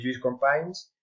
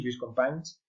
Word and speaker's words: Lluís Companys: Este es Lluís Companys, no sé catalán, pero creo que se pronuncia así, Lluís Companys, y entonces declara la